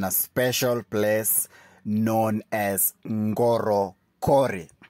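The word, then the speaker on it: Ngorokori: special Place known as Goro Cori that's n g o r o k o r i Goro cor that's the pronunciation so this place is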